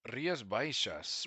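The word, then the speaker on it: Rías Baixas: Rias Bishas. Well, first of all, that you say it like Riasbishas that the X in the Galatian language.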